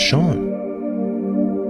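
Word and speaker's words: Sean: If bean is spelled B E A N and pronounced as Bean, then why is Sha spelled as S E A N and pronounced Sha? Shouldn't it be seen?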